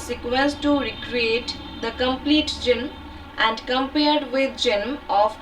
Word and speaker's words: genome: Genome, इसको जिन भी बोला जाता है और जीनोम भी बोला जाता है. इसका प्रोनाउंसिएशन रहेगा genome.